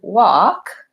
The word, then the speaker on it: walk: are actually in the word so the word walk is actually pronounced the exact same as this word which